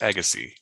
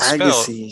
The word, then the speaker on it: Agassiz: It is pronounced Agassi. It is Agassi.